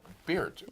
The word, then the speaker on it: Baert: Baert. Yes. Is that pronounced right? It's Baert, exactly.